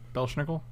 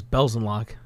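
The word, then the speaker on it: Belzenlok: It dies to Belzenlock. Everybody dies to Belzenlock. Belzenlock is going to be the one that draws us the Splinter Twin. Belschnickel? What? Belschnickel. It's his name. No, his name is Belzenlock.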